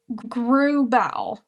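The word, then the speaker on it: Grauballe: I believe you say Grubal. Grubal.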